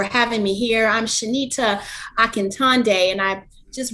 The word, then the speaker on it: Akintonde: me here i'm shanita akantande and i just repronounced my name because i like to say shanita like tata like a magician and day to help with the